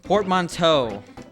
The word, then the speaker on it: portmanteau: How do you pronounce it? That's the thing. Porgans Doonsend? You okay, Adam? Uh oh. Portmanteau.